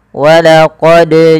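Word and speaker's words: ولقد: Yang tepat adalah dia kita pantulkan suaranya sembari mengalir suaranya. Walaqad ja walaqod ja.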